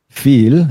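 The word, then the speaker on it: vier: for some student is the pronunciation of the word feel even though it's written with a V you pronounce it exactly as if if it were an F so V feel V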